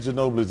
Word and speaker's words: Ginobili: kid Ginobili's a stud. Hey, that's- come on. He plays with reckless I thought when he was having a good game, you'd pronounce his name a different way.